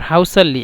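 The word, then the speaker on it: هصلي: হাউসাল্লি আবলি নোম হাউসাল্লি এই যে হাকে মিশরেরা মানে এই মিশরের মানে এই হাটা সবসময় উচ্চারণ করে সিনের পরিবর্তে উসাল্লি মানে অচিরেই নামাজ পড়বো আর হাউসাল্লি একসাথে বলে হাউসাল্লি আবলে নোম তারপরে শুদ্ধ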